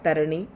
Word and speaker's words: तरणी: इसमें र पे एक पे उ की मात्रा नहीं है। यह तरणी है। इसका उच्चारण करेंगे हम तरणी।